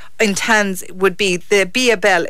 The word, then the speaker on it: Biabelle: Spell it. B. Yeah, glasses have to come on. BIABELLE.